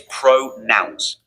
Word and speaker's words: pronouns: The word is pro nouns. It rhymes with the word bounce. Say bounce. Bounce. Good. Very good, Hashim. Now, say pro and then bounce together. Pro bounce. Pro bounce. That sounds like pronouns.